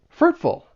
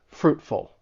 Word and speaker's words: fruitful: The stress is on that first syllable and that T in fruit, it it's a stop T. Fruitful.